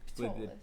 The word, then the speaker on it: Atolus: The next one we have is Monty Cook Games with, you have to say it. Atolus. Atolus. No, just Atolus. the P is silent thing.